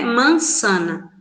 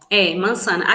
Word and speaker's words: manzana: Em espanhol a gente pronuncia sempre s, como se fosse SS ou C cedilha, né? Mansana. Aqui Maçã, né? temos, manzana.